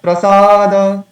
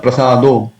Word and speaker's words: Prasada: Shri Bhagavad Prasad. It is the, but many times I see devotees say Bhagat Prasado because they think that in the last stanza also we have Prasado, so it must be Prasado here.